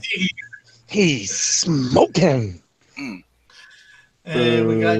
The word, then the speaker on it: Seger: Bob Pronounced Seger.